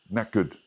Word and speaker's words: knackered: And the pronunciation of this is knack. Knackered.